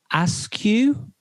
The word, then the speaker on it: Askew: Well, I can't really pronounce his name, but his name is Finn Askew. So that's Finn, Finn, and then Askew, Askew.